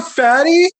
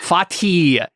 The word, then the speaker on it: Fatih: Fort Fatty? What the? Fatih. It's Arabic.